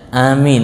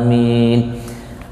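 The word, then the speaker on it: آمين: dalam salat antara ulama Bagaimana cara membacanya Apakah alifnya dipanjang ataukah alifnya di pendek Apakah mimnya atau tidak Itu yang utama pendapat yang paling kuat yang paling banyak diungkap oleh para ulama itu alifnya dipanjang alifnya panjang mim-nya itu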